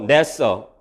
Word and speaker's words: NASA: 있음은 이니셜을 하나씩을 거칩니다 nasa 그렇게 일지 않고 냈어 라고 읽고 요 네 이 터